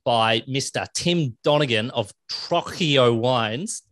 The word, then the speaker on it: Trocchio: Tim Donegan of Trocchio Wines. How did I do? Trocchio?